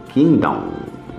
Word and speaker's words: kingdom: Se escreve kingdom, com M no final, king de rei, tá? E se lê kingdom, não se lê o G do king, tá? Então é kingdom.